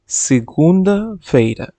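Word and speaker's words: segunda-feira: সাবাদু Saturday বা শনিবার তুমিঙ্গো তুমিঙ্গো Sunday রবিবার সিগুন্দা ফেরা সিগগুন্দা ফেরা সোমবার তেরসা ফেরা তেরসা ফেরা মঙ্গলবার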